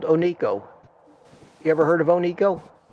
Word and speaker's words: Oneco: Well, when you look at it on a piece of paper, it looks like one company, one CO.